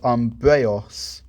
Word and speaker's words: Umbreus: I'd say I pronounced it EUS as Eos, as in chaos, the first being in Greek mythology. So for me, I would pronounce Umbreus as Umbreos.